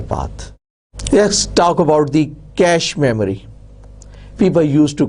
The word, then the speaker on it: cache: let's talk about the cache memory people used to call it as cocky memory catchy memory but now the word c-a-c-h-e has settled its pronunciation and it is called cache memory be careful its spelling